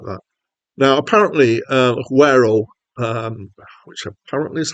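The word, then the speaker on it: Güero: Now, apparently, Guero, which apparently is how to pronounce this, means whitey in Spanish.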